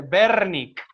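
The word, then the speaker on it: Wernicke: pronuncia de esta manera en alemán la doble u se pronuncia como una uve entonces es el área de berni con este desván que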